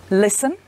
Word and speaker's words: listen: Some words have a silent letter T. For example, castle, whistle, listen.